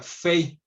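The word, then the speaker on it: פ: como la estamos viendo, es como se debería de pronunciar como pay, pero es una letra doble, lo vamos a ver en esta siguiente diapositiva, en donde el puntito o dagesh, que se llama, el puntito que tiene en el centro, haría que la pronunciación fuera directamente al unir los labios como la P, como P de Pedro, ¿no? Eh, pero si quitáramos este puntito, se pronuncia como una F, sería fei.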